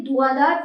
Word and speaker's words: धुआंधार: इसके अलावा ये भी बात आती है कि धुआंधार फॉल्स। धुरंधर फॉल्स मतलब देख लेना आप प्रोनाउंसिएशन धुआधार है। धुरंधर क्या है?